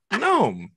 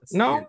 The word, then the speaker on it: gnome: Gnome, right? Yeah, gnome. It's not gnome. Like, it's like gnome? Yeah, like gnocchi.